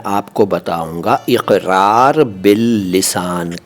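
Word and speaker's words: اقرار: pronunciation पर ध्यान दीजिए यह है इकरार इक नहीं है इक मत बोलिए इकरार बिल लिसान ठीक है क और क अलग-अलग होते हैं क में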